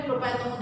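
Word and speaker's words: propanone: बट मैं बोलती हूँ स्पेलिंग करेक्शन मतलब बिल्कुल भी मिस्टेक ना हो, इसलिए मैं हमेशा प्रोनाउंस करने लगाती हूँ प्रोपेन 1। एक्चुअली करेक्ट प्रोनाउंसिएशन या करेक्ट ये जो है प्रोपेनोन है, ठीक है।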